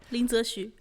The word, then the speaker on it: Lin Zexu: So the man chosen to do it, the man, the myth, the legend, Lin Zexu. How would you pronounce it? Good job. Did I do a good job? Yeah. Okay. Lin Zexu.